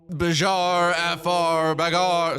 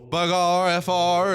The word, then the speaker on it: Bagarre: We have the battle for Europe on our hands as team France, the BARF frar. Sorry, we need to fix pronunciation. Team France Bagarfr is going up against Team Germany, the Asteroid Destroyers.